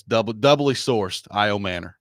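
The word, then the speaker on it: Ayomanor: So, I've seen it is now I've I've got the Stanford pronunciation guide and Notre Dame together. So, it's double doubly sourced. I Manor. I Manor. Yeah. Not Amanor. Correct. Okay. I Manor.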